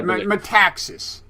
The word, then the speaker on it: Metaxas: does he pronounces meme texas met how to pronounce a whole last name a Texas I metaxas yes uh yeah he wrote a biography of